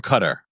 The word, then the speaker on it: Qatar: I say oh and Qatar or Cutter all right DOA Mima is watching from DOA I want to go to Qatar or Cutter cutter is a correct pronunciation right I want to